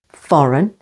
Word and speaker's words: foreign: syllable though and way and before n in these words campaign with the stress on the second syllable campaign foreign with the stress on the first syllable foreign and gnome and if